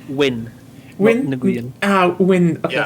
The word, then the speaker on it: Nguyen: That's pronounced Win.